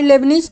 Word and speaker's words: Leibniz: तो बाय लेबनिज theorem, ठीक है। तो लेबनिज थ्योरम से जब हम लोग इसका nth टाइम